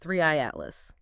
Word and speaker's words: 3I/ATLAS: It's the interstellar comet uh pronounced threeey atlas.